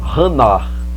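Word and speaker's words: חנה: da palavra Ana ela ela vem com o h com o som de R 1 h no final né então vou tentar pronunciar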